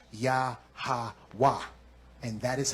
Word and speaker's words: Yahwa: So if I take the Y, the H, the W, and the H, and I put a A connected to each of them, I'm going to get Yahawaha. But in ancient Hebrew, the last two characters have to close off the sound of the word. So I don't put an extra a at the end of it. Now it would be pronounced yahwa.